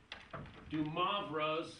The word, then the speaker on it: de Moivre: I got this off a web page from Stanford saying it should be Moivre.